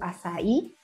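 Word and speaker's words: açaí: Tenemos al azaí, que se escribe acai.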